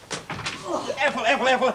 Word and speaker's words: Ethel: It sounds so common when you pronounce it with an F. All right, I shall pronounce it with a PH. Listen, Ethel, I've just had a phone call from the Earl of Perivale.